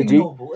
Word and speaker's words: ignoble: Do you pronounce the ignoble, G? Ignoble. Not recognize the word. I'm sorry. It's ignoble. It's like not noble. That's what it means, right? Ignoble. Why wouldn't you say the G? I don't know, because I